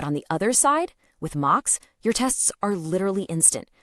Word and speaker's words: Moq: stands above the rest, a library called mock, that's spelled M-O-Q.